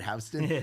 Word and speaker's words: Houston: It's looks like Houston, but they pronounce it Hston.